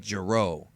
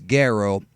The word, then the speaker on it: Gero: the original Japanese version Dr jro's name was and always has been Dr Goo but for some reason they changed it to pronouncing it jro why I have no idea but it's gero and I think it's